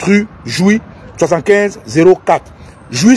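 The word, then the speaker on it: Jouy: de Paris qui est situé à 7 rue joui 7504 jou s'écrit j u y et c'est le métro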